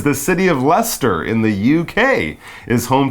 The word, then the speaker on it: Leicester: Well done for pronouncing Leicester correctly.